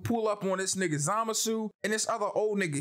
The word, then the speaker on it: Zamasu: My name's Zamasu. Zama what? Nigga, what the fuck? How you pronounce that shit?